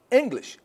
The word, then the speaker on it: English: If I ask you about the stress in each one, English. English. It's cut clear. Okay. It's clear cut. English. It's the stress is on the first one.